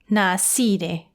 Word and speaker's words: နှာစေးတယ်: Usually, you'd expect that middle sound to be pronounced se, right? But in this phrase, it sounds more like si. Na si de.